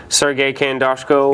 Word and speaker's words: Sergey Khandozhko: Sergey Khandozhko.